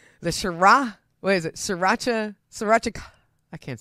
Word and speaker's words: Sriracha: Three very distinct syllables. Sriracha. I just love that bold flavor.